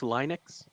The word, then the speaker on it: Linux: retro with like a Linux or something it's pronounced Linux I like how retro techie has a you